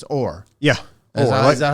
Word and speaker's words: Or: name SV and it's or yeah is that how it's pronounced it's like Orlando without the Lando okay so it's or all right and then